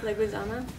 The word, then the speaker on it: Leguizamo: Luigi. Okay? Luigi. Yeah. Mario. Yeah. Leguizamo. Right. There you go.